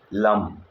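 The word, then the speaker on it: लं: ध्यान रखना है और उसका मंत्र है लम ल ऊपर बिंदी इसको बोलते हैं लम इसको इंग्लिश में समझते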